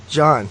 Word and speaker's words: Gian: How do you say his name? John. Yeah, it looks weird when I see it written out.